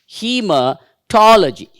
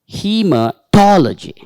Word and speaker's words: hematology: lower stress hea toy so there is an upper stress for to and a and then L uh G hematology hematology just imagine if we